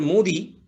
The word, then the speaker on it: Modi: of how prime minister modi is pronounced so i've actually repeated written down in hindi in tamil in english is supposed to be modi with an h unfortunately people don't write